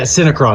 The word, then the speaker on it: Syncron: name of the company is it sron or sron yeah syncron syncron all right it was a